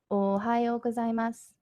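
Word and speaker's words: おはようございます: so good morning is ohayo gozaimasu so let me say that slowly oh ha your war z e mus and with your friends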